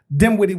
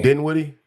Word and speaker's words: Dinwiddie: Dinwiddie? D-I-N? Din. Like Dimwit? He called the man Dimwitty, bro. That's his name? Y'all know what I'm talking about. It's Dinwiddie, Spencer Dinwiddie.